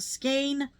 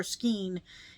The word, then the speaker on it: skein: could still store them on the skein or skein. I am a skein person. Let me know if you are skein or skeen in the comments. because there are two very different ways to pronounce it, apparently.